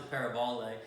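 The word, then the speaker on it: παραβολή: actually the word parable and that's funny actually pronounced a pair of all day but it's a compound word we talked about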